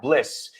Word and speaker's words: bliss: Cuesta, pero es la diferencia entre pronunciar bien las palabras básicas Es un poco menos i, un poquito más e. y el sonido final es zzz, y, right? Vale. So, bliss.